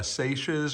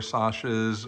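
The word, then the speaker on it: Sacia's: idea of what uh saches or sashes or cecias I've heard it pronounced three different ways but I believe it's uh Sasha's book Emporium and it's just a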